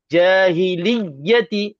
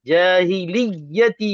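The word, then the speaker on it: الْجَاهِلِيَّةِ: Jadi kalau mad dua harakat memang tak betullah caraan cara bacaan jahiliyati. Ha kena panjang gitu kan. Sedangkan di sini memang kena tekan saja jahiliyati jahiliyati yaqu. Tak ada tempoh untuk dua harakat.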